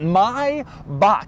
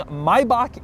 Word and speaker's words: Maybach: One is the pronunciation, which is right here. This is the correct way to say it, Maybach. Anybody who says Maybach or Maybach, it's all wrong. Maybach is correct.